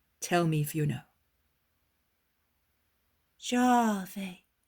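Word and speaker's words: Yahweh: me if you know jave the boy pronounces it thus a very soft g which is almost a j and a very long a and why does one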